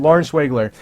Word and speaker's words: Lauren Schwegler: going to be against Lauren Schwegler, that's how you say her name, Lauren Schwegler.